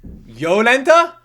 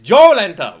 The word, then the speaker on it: Joletta: Yoletta? Ah, how crazy. But it's pronounced Jo with a J, you son of a I knew it.